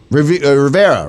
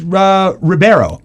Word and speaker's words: Ribeiro: bad news for Alfonso Ribeiro Rivera right no it's Ribeiro or IB what he